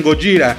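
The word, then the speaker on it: ゴジラ: llamaba Gojira, y sí, allá los orientales le decían Gojira, y por alguna razón cuando se pasó a Estados Unidos, la gente le empezó a decir Godzilla. Supongo que no podían pronunciar Gojira.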